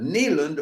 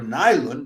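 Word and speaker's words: Nylund: Camila Nand or Nylon depending on how you pronounce that Finnish name is in the role of Brun Hilda, which she's reprising.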